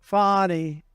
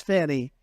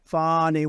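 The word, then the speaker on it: Fani: right has anybody fonnie it's pronounced fny F A ni I that's Fanny but she likes it fny when she became the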